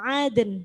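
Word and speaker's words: عَدْن: Jannatu aden. Berhenti di aden. Ya, jadi aden. Karena itu qalqalah, kemudian nunnya mati dijadikan mati karena waqaf, jadi bunyinya aden.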